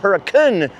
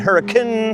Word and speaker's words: Hurricane: So why is the town called Huracun now?